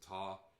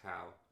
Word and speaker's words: tau: My fraternity, we pronounce it Taw, even though it's usually Tau.